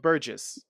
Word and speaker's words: Burgess: How do you pronounce his name? Burgess. Burgess? Okay, there we go.